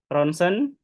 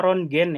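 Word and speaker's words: rontgen: Jangan ada lagi yang baca rong gen ya. Ini anak-anak koas itu biasanya bacanya rongen. Jadi ketika disuruh baca ee artikel gitu dia bacanya rongen hasil rong gen ronsen ya tulisannya rong gen bacanya community scan kemudian MRI.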